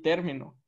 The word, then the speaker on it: término: Luego, y podemos poner terminó y término.